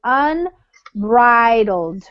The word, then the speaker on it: unbridled: And then this one is what we call a long I sound. So it's unbridled.